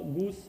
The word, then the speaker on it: GOOS: Goose is pronounced as Goose, is Linux, Gorge, which is the architecture is ARM.